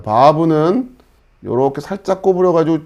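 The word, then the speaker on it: וו: 자, 이거는 이제 우리나라 발음으로 비읍 발음 정도 된다 생각하시면 돼요. 물론 아까 우리가 배웠던 베트하고 이 바브 같은 경우는 비읍 발음, V 발음 이렇게 구별이 되지만 자, 우리가 이제 히브리어를 처음 공부하는 입장에서는 그냥 편안하게 비읍 발음으로 해도 크게 무리가 없거든요. 여러분 그냥 비읍 발음 정도 된다 생각하시고 바브 이렇게 하시면 되고요.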